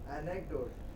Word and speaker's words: anecdote: Anecdote. Anecdote. No. Is a pre-final. Count which syllable is pre-final? A. So it will be anecdote.